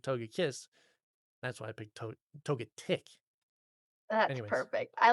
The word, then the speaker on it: Togetic: And I don't know how you pronounce it, so I might even say it wrong. I think Togetic. it's Togetic. Yes, yes, Togetic.